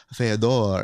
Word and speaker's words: Fyodor: He was like, the right pronunciation is Fyodor.